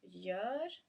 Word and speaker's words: gör: So G followed by Ö is as in the word gör is soft, so it's almost like a y sound, like a y sound, soft y sound, or like the Swedish j, y.